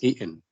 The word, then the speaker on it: eaten: have a comment on the pronunciation of the word eaten. Yeah, we pronounce it eaten, but the speaker pronounced it in another way. Do you remember? Who can tell me? I hadn't. Eaten. Excellent. Yeah, excellent. Eaten. I hadn't eaten yet. I hadn't eaten Eaten. Yeah, excellent. So the t can be pronounced like hamza. Okay. This is called the glottal stop.